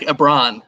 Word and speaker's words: Ebron: as opposed to like so it just left off the l at the beginning it's lebron james but eric ebron eric abron that's how you pronounce it okay sorry yeah um